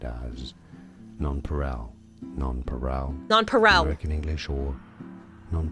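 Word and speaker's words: nonpareil: parallel no non paral it's non paral I literally looked it up every single website was pronouncing it the way that I am Noe it pisses me off he thinks he's right the pronunciation per Google is non Peril Archer wants to know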